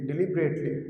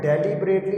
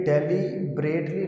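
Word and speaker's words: deliberately: यहाँ तक पढ़ना है डिलिबरेटली। तो आपने डेलीबरेटली नहीं पढ़ना, ये डेलीबरेटली नहीं है, डिलिबरेटली, डिलिबरेटली, ठीक है बच्चों। इस तरह से आपने इसको प्रोनाउंस करना है।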